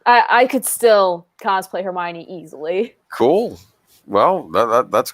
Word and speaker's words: Hermione: before i'd seen the movies i called her hermione oh no i used to that's how i pronounced her name i didn't realize oh and i watched oh it's hermione sorry i i would i cosplayed hermione for